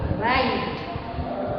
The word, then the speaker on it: ऋ: री। इसे हम इंग्लिश में प्रोनाउंस कर सकते हैं RI, री।